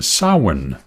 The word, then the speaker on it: Samhain: know that's right uh sin which is spelled s a m h a i n sin yes well Halloween